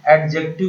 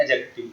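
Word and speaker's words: adjective: तीन चीजों को समझिए कि एडजेक्टिव नहीं बोला जाता है, इसे बोला जाता है दोस्तों एडजेक्टिव।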